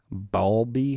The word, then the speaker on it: Bowlby: Yeah, I was reading something about attachment theory the other day by Bowlby. How do you say his name? Bowlby.